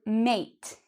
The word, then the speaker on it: mate: Whereas this word is actually mate, mate. So mat and mate.